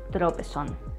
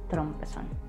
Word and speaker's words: tropezón: So today we say tropezón, not trompezón.